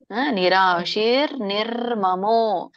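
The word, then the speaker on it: ನಿರಾಶೀರ್ ನಿರ್ಮಮೋ: ಅರ್ಕಾವಳಿ ಅದರ ಅರ್ಥ ಏನು ಆ ವ್ಯಂಜನ ಉಚ್ಚಾರ ಮಾಡೋಕ್ಕಿಂತ ಮುಂಚೆ ರ ಹೇಳಬೇಕು ಅಂತ ನಿರಾಶಿರ್ ನಿರ್ಮಮೋ ನಿರಾಶಿರ್ ನಿರ್ಮಮೋ ನಿರಾಶಿರ್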